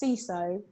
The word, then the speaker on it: CISO: But yeah, it's like CISO, like as if it was Spanish.